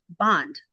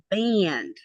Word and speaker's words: band: way we always had, bond, with a long A sound, because as we all know, in Tagalog, there's no short A sound. The girls laughed and said, it's band, not bond.